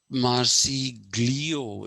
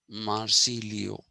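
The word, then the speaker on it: Marsiglio: marcilio is this but bertrand russell uses this spelling marci glio it is written but it is still pronounced marci leo okay it is still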